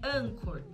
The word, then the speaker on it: Anchor: E âncora, a pronúncia correta em inglês é anchor. Anchor.